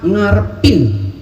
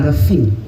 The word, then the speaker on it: ngarepin: Gue cuma ngarepin. Ingat, bukan ngerefin ya. Harus jelas.